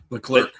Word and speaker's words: Leclerc: Leclerc.